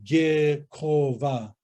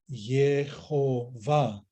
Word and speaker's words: Yehovah: So it wouldn't be correct to say Gehova. When these consonants were softened, we could say Yehovah. It would be close to the Hebrew understanding and pronunciation of the Tetragrammaton.